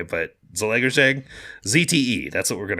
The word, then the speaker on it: Zalaegerszeg: This is definitely coming from, how do you say, Zalaegerszeg? That's how you call it. That's how you pronounce it. I don't think Hungarians pronounce it that way, but Zalaegerszeg, ZTE.